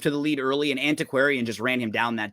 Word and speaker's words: Antiquarian: In the 5, we have the winner of the before mentioned Peter Pan with Aquanarium. I think I pronounced that totally wrong. Antiquarian.